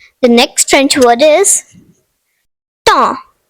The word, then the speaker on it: temps: The next French word is temps, meaning time. The silent letters are P and S.